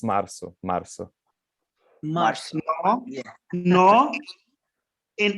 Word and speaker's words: março: Mars? I got it wrong. It's Março.